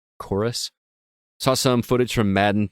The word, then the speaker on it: Chorus: scorn another one called chorus but the U in that is actually a v so it looks like corves but it's actually pronounced chorus saw some footage from